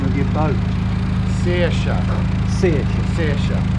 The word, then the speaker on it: Saoirse: Saoirse. Saoirse. Saoirse. As in Saoirse Ronan, the actress.